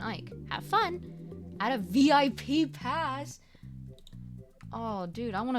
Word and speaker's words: VIP: mik asks oh what's VIP uh he pronounced his the acronym is a word rhyming with zip the P you say